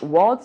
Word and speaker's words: Wurld: guys um the world his name world is spelled wur l d so just